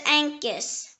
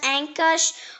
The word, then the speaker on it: ankus: The next word is Ankus. It can also be pronounced Ankush or Ankusha.